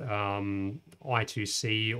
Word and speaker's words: I2C: the same thing with i2c or i squared c depending on how you want to pronounce it with spy we can